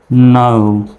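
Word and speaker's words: know: এর উচ্চারণটা সাইলেন্ট থাকবে শব্দের প্রথমে কে এন থাকলে কে এর উচ্চারণ সাইলেন্ট তাহলে এখান থেকে শুধু উচ্চারণ করেন এন ও ডব্লিউ নৌ এরকম হবে নো যদিও বা আমরা নো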